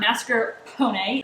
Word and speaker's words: mascarpone: we serve them with mascarpone it's an Italian cream cheese um emphasis on the pony is what I've learned how to say it but if you don't